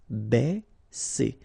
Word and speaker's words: Baisser: Ba, okay, because A and E together will produce the sound E. Baisser, baisser.